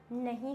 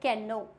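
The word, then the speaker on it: know: जाएगा नॉक need knife next होता है नो इसको बहुत सारे बच्चे पढ़ते हैं कैन नो पर कैन नो एक एकदम गलत हो जाता है कैनो नहीं होता है यहां पे के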